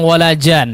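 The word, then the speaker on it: ولا جان: Nah, 3 tempat ini ya di setiap huruf nunnya apa? Bertasydid.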